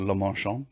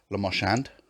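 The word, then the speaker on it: Le Marchand: i don't really understand why we're not calling it the la marchand configuration is that because we have to say it like that otherwise it's lamoshand and they just went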